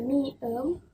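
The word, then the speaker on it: 미음: Terus di huruf yang kelima, kita punya miem yang di awal sebagai M dan di akhir juga sebagai M.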